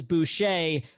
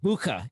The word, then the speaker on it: Bueche: We've always said it was Bueche, but recently I found out it's actually supposed to be pronounced Bucha. It's German.